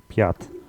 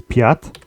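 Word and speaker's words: пять: is which is four 5 is sounds a bit like a swear word Piat five is Piat sex is chest chest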